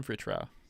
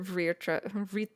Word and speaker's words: Vritra: It's actually easier to say if you pronounce it in Spanish, but there is an I sound there even if the letter isn't there. It's because it's taken from Hindi.